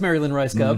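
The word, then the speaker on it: Mary Lynn Rajskub: And I went with the great Marilyn Ricegum. That's right. Ooh. I was waiting to see if you were going to say it correctly, but you had her on the show, so it is Marilyn Ricegum.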